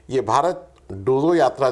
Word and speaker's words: डोजो: डोजो यात्रा जिजु से वह आप डोजो बोलिए डोजो बोलिए व डज यात्रा हालांकि